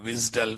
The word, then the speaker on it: WSDL: service description long race everyone in the industry calls it a wisdal file.